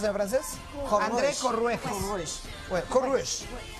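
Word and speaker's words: Courrèges: ¿Cómo lo pronuncias en francés? Corrueges.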